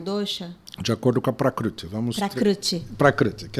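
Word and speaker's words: प्रकृति: Prakruti. É difícil falar, né? É difícil. Fala de novo. Prakruti. Mas tudo bem. Não cheguei lá, não. Você fala prakriti, que é assim que se escreve, que tá bom.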